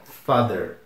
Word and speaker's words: father: Seguindo, pai, que é father. É mais fácil ainda de pronunciar do que mother, porque o FA se pronuncia fa mesmo. Father.